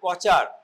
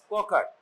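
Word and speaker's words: Kocher: বলো, right সাবকস্টাল incision, অথবা তোমরা উচ্চারণ করছিলে কচার, that is নট কচার, ইট ইজ ককার।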